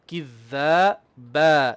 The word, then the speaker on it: كذابا: They don't make the ba two haraka the same as the كذابا. It should be كذابا, same length. And that's a very common thing people do, كذابا. So do you understand? You kind of reduce the length of the last letter, which should be the same haraka.